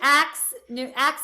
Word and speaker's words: Aks: But it's Axe like hatchet.